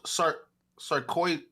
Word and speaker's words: sarcoidosis: Oh, sarcoidosis. Sarcoidosis. That's how you say it.